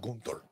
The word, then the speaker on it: Gunther: Gunther.